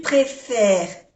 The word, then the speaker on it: préfère: ¿Tu préfères le chocolat ou la vanille? Tu préfères. No se pronuncia la E ni la S. Préfère.